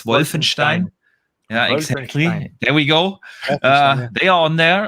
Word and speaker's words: Wolfenstein: Wolfenstein uh well when whenever I talk to to to Americans I I start to pronounce Wolfenstein wrong like like you guys do it you always say Wolfenstein yeah or something like that it's it's Wolfenstein yeah exactly there we